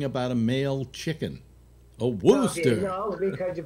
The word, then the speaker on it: Worcester: He's in Massachusetts, in Worcester, which is how's Worcester spelled now? Worcester. Okay, the Worcester. Worcester. That's like it's like Elmer Fudd talking about a male chicken. A Worcester.